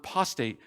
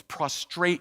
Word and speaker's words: prostrate: It's not prostate yourself. It's prostrate yourself.